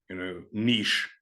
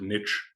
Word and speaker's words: niche: Like words like chivalry, chandelier, niche. I know a lot of people pronounce it niche, but it would be niche, right?